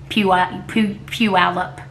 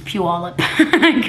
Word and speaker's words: Puyallup: need to tell mega it's not few up you al up its Puyallup she was doing a